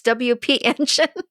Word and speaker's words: WP Engine: mean we've we've both even Ryan said it wrong WordPress engine no it's WP engine but I mean obviously